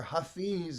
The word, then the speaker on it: Hafez: have heard of roomies contemporary hafez hafez or hafiz is sometimes pronounced if you don't know